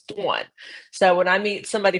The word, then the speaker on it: Dawn: Um I always say my name's Dawn because here in Florida, the Southerners, they say Dawn. I'm like, "No, it's Dawn."